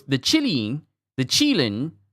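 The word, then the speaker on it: qilin: So the the kadine pronounced chilin cheating. Chilein. Wow. You would think I would realize that the ch Chinese name of it with q n i would be chi.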